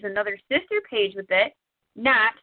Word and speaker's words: GNAT: But one other thing that I do other than Tec Richmond is another sister page with it, NAT, spelled like the bug gnat, GNAT, Girls News About Technology.